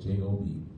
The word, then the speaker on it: Job: Job. J-O-B. If you're from the country, you pronounce it Job.